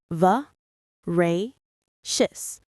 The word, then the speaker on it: voracious: V reacious. The stress is on the second syllable. Rey.